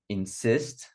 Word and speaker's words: insist: Insist.